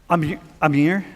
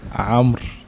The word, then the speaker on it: Amr: Yeah, how do Hammer you without say the it? H. How do you say it? Amr. Hammer. Amr. Like from the throat.